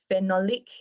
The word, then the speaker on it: phenolic: foods i know the antioxidant rich foods and phenolic acid do you know if that's how you say it phenolic phenolic is it ph h e n o l i c yes phenolic so apparently that is really good to assist